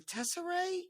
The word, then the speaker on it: Tesserae: It's called, is it the Tesserae?